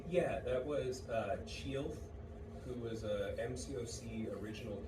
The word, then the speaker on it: Chielth: And the first one, what's the last Chielth, it's say the last sound? Ilth.